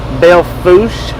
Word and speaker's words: Belle Fourche: the two or three Belle Fourche the proper pronunciation according to the locals hope you enjoyed don't